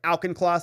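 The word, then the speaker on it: Auchincloss: this email to Hugh auchenclaws correct that's how you say his name right alken cloth he says yeah you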